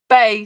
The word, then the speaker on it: bae: BAE, pronounced Bay, thought you said it.